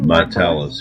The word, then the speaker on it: Martellus: Martellus Bennett. Is that how you say his name? Martellus, yeah, that's it.